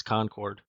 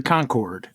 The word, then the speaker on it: Concord: saying it wrong though isn't it more like conquered conquered conquered conquered there's